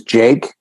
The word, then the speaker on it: JVKE: I think his name is Jake, but it's spelled like JVKE or something.